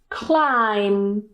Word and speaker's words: climb: It's in the middle the B at the end is Silent and we just pronounce The M so we just pronounce and that's it for example bomb Climb and of course this